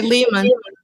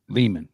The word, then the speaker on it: Lehman: How do you say that? I say Lehman. Lehman. Okay, got it.